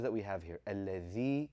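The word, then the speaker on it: الذي: A lot of us have grown up saying allazi, yukazzibu. And what is it that differentiates that from saying alladhi and yukazzibu?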